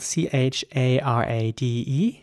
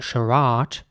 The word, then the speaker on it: charade: Next word is spelled C-H-A-R-A-D-E. And in British English, it would be charade. But some people might also say charade. But that is also quite American in my opinion.